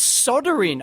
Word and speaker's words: soldering: It's soldering over there, right? What the hell's that? It's soldering with an L.